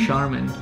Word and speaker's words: Charmin: she is tricky because you don't pronounce this as a church it's a shirt chamois Charmin can you guess what